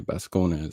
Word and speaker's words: Bascones: Pronounce Bascones. Okay, Bascones.